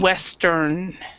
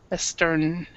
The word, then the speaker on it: Western: the the same way you need to pronounce the in so Eastern and Western n Western yeah exactly now is